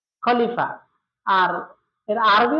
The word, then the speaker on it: খলিফা: আর খলিফা এর ইংরেজি উচ্চারণ হচ্ছে কে এইচ এল আই এফ এ খলিফা।